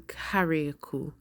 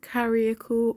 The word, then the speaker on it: Carriacou: Welcome back to our channel, and today we are in Carriacou. So it's either pronounced Carriacou or Carriacou, and it's the sister isle of Grenada.